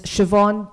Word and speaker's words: Siobhan: Siobhan Das, so a very fascinating name. I've been I've been coached by Siobhan that you can pronounce her name it rhymes with Yvonne, right?